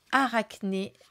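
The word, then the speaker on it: Arachné: tout de suite avec aracné oui on prononce bien comme ça si vous avez un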